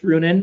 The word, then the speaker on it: Ruohonen: Well, how can people find you or stay follow you or stay in touch or So I'm uh Runan. My last name is spelled ru o h o n ne at on Facebook I'm Brunin pretty easy on uh Instagram.